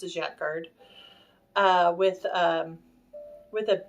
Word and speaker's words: Jacquard: I'm saying it right is yet Jacquard jackard j-a-q-u-a-r-d I think is how you say it it's they're either